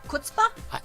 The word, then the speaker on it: chutzpah: Chutzpah? Chutzpah. Pronounce it right. It's chutzpah.